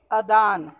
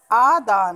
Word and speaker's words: आदान: जैसे दिया है कि अदान, तो अदान शब्द जो है वो अशुद्ध है, अदान नहीं होता, आदान होता है।